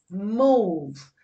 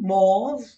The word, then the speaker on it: mauve: All right, mauve, M-A-U-V-E, mauve, not mauve, mauve, which is a lovely, subtle color, like a violet or a lavender, not quite a purple.